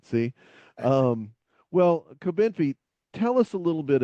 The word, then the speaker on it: Cobenfy: And one of the meds that we want to talk about today is Cobenfy. No, see, I'm saying it wrong again. Cobenfy, is that right? You're Cobenfy.